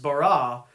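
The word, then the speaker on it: בָּרָא: to create in the Old Testament language it's pronounced bara now that as a verb used only for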